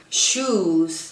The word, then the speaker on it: shoes: Trato de pronunciar la verdad con la Z, y muchísimas palabras que terminan en una vocal y una S, aunque tienen una S al final, no se pronuncia como S, sino que se pronuncia como una Z. Shoes.